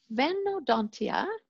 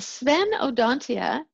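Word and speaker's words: Sphenodontia: uh where was i going with that yes venodontia no that's wrong it's spelled spen o dontia so the sven odontia there's only one genus the tuataras and they're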